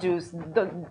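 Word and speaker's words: JeOS: So JUICE, I don't know why it's pronounced juice.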